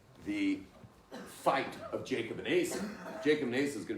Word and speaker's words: Esau: We call it, it's spelled Esau, but we say Esau.